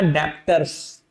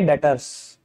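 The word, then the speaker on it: debtors: बाबू कोई नहीं बोलेगा डेप्ट्स बी वर्ड साइलेंट है बोलेंगे डेटर्स क्या बोलेंगे बेटा डेटर्स एडेप्टर्स किसी के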